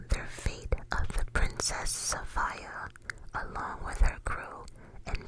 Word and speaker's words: Sophia: But yeah, throughout my research, I found out that a lot of people call it the Princess Sophia, but um the proper pronunciation is the Princess Safia.